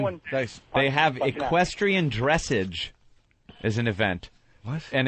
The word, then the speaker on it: dressage: Equestrian dressage? Dressage, actually. Dressage? Yes. I pronounced that right.